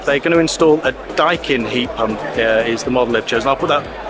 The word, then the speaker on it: Daikin: Come to a heat pump stand, and I found out it's pronounced Daikin. I had to ask. I wasn't sure if it was Daikin or Daikin, but it is definitely Daikin, and it's a Japanese company.